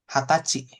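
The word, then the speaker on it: 二十歳: Tanggal 20 bacanya Hatsuka. Oke, jadi khusus angka 20 ya. Heeh. Khusus angka 20 itu dibacanya kalau tanggal Hatsuka, kalau umur Hatachi.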